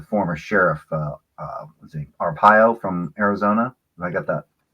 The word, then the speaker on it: Arpaio: his name the former sheriff uh let's see arpaio from arizona i got that by pronouncing his name yeah joe arpaio yeah joel you know they may not like